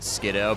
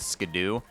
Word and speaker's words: Skiddo: That'd be like almost as dumb as if like the Pokemon whose name is a pun on Skid in Kiddo wasn't pronounced Skiddo, but it was instead pronounced Skidoo. I mean, that would just be so fucking stupid.